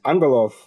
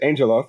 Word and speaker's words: Angelov: Felix Angelov, I believe is the right way to say it, or Americanized Angelov, as he's just let me know.